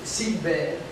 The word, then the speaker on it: Silvain: In French, you pronounce it Silvain, so they come to the idea to make Gilbert.